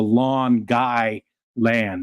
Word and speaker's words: Long Island: go to Rochester and she calls it Long Island like it sounds like it's a lawn like